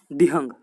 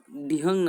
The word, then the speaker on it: Dihang: करके आती है, उसे हम कहते हैं DIHANG, दिहंग। ठीक है, दिहंग और संगपो ये दो अलग अलग नाम यहाँ पर हम पढ़ लेते। ठीक है, जो दिहंग नदियाँ है वो ब्रह्मपुत्र नदी को जाकर मिलते